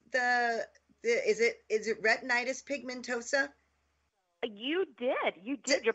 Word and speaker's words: retinitis pigmentosa: be here I'm so glad so did I pronounce the is it is it retinitis pigmentosa you did you did you're practically a doctor